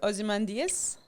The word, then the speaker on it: Ozymandias: you now perfect okay we have the character ozymandias okay is that how you say his name